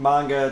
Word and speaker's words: manga: By the way, everybody in the chat room that's making fun of the way we say manga, we're saying it right. You guys have been saying it wrong.